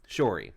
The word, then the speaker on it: Shiori: Would you like to pronounce it? Shiori, right.